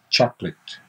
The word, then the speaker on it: chocolate: it's like the word late not early late chocolate but it's not it's lit so chocolate chocolate and if you want to check that you can go to euglish and hear lots of people pronouncing chocolate in in american english in british english so chocolate usually two syllables and we haven't collected